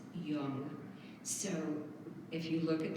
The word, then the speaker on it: yang: yin and yang well it's not yang it's young so if you look